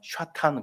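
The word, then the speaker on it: שָׂטָן: 제 말 발음이 히브리 발음이 원래가 샤탄 그럽니다. 그게 지금까지 사탄으로 그다음에 영어에서는 세튼이라고 그러죠. 발음이 조금 다른데 비슷해요. 히브리 말로는 샤탄, 영어로는 세튼.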